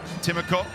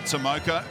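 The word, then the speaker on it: Timoko: raid is keen to push that message that that's the pronunciation that this guy wants matt timmerkopf and not tomoka and uh first try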